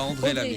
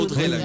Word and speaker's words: Audrey Lamy: pas André Lamy. Non, rien à Audrey. voir. Ah oui, Audrey Lamy. Ah oui, je l'ai mal prononcé.